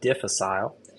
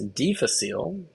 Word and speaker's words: difficile: And the way you say this, it's not difficile. It's deficile.